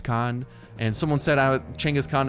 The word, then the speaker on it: Chinggis Khaan: and someone set out Chinggis Khaan is that how you pronounce it just come on I call you out on your because that is actually a hundred percent how you do pronounce and I'm not being sarcastic in any way during this very sentence that is actually one of the correct pronunciations Chinggis Khaan so yeah you can